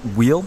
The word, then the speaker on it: Weal: Well, Jonathan, is it your last name Weal? That's right. Weal.